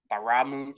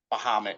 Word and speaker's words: Bahamut: The Baramu fight, I can't pronounce the fucking name. When Bahamut? Bahamut, yeah, Bahamut, whatever.